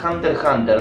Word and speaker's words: Hunter x Hunter: En realidad se pronuncia Hunter x Hunter, la X no se pronuncia.